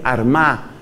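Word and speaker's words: Armagh: la sede san patricio fue arma que se escribe con gh al final san patricio desde la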